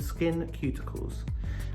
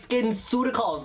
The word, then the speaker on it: SkinCeuticals: then we get this it's called skin cuticles and this is a simply clean gel it's not the cuticles of your fingers it's skinceuticals but i'ma let it